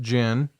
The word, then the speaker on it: djinn: is uh a noun it's pronounced gin yeah an intelligent Spirit